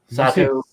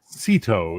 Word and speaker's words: Sito: Sato and Sato? Sato, how do you say her name? Sito. It's an I, not an A, sir.